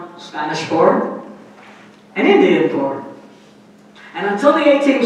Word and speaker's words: Inti: So that bird is called Indi. Indi. And that is actually the way you pronounce in Quechua the term for the sun, which we mispronounce in Spanish and English by calling it Inti, but it's Indi.